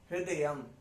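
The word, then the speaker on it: हृदयम्: तो हृदयम, हृदयम, ह के नीचे री की मात्रा है वो, तो वो ह के बीच में ही आ जाती है। ह्री हृदयम, हृदयम। लास्ट में आधा म है तो लगेगा, म नहीं आएगा, नहीं आएगा, म आएगा, हृदयम।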